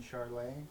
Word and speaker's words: Chiarle: front of an audience uh Vimeo Channel charlay okay c h i a r l e is the last name I spell it pronounce it okay also I have an